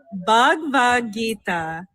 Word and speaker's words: Bhagavad Gita: Bhagavad Gita. Bhagavad Gita. Yes. Well, everybody been saying it wrong. These motherfuckers be talking about Habagro, Vegito, like Avada Kedavra, whatever word.